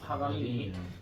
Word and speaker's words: 파가니니: 딱 나온 상태에서 637번지 발음이 좀 힘들긴 하지만은 빠가니니 아 요한 거 아닙니다 사람 이름입니다 파가니니 자이 사람은 유명합니다 그의